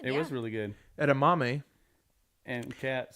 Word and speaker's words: edamame: Kat decided to order edamame.